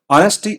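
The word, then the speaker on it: honesty: ऑनेस्टी इसको ऑनेस्टी कहते हैं। ऑनेस्टी मतलब होता है ईमानदारी। यहां पे एक्स साइलेंट है।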